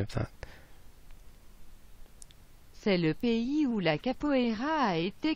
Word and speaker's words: pays: P-A-Y-S, it's spelt. P-A-Y-S, pay. Strange.